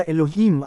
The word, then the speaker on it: Elohim: Pinatutunayan din dito ang bigkas na L sa Elohim at hindi al.